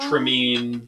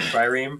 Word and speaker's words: trireme: And I'm assuming Tremine was supposed to be Trireme? Yes. Okay. I thought You he guys pronounced might it meet at Trimmy.